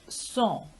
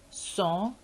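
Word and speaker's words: sans: opposite of avik is song song and this s in the end is not pronounced as it is a consonant so the pronunciation is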